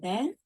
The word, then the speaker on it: 得: Today we are going to learn this complement marker, the. Here, when this character as a complement marker, we pronounce this sound.